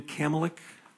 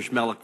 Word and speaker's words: Schmelik: Jim Kamlick. Mr. Kamlick, please, the podium is yours, sir. Thank you, Representative Wood. It's Commissioner Schmelik from Idaho County is how you say that.